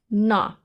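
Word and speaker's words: ण: Whenever we write ana in the individual sound, it takes the sound of ana, whereas if it comes in the word, this consonant should be pronounced as na. So this consonant in the word is pronounced as na, whereas ana in the individual form.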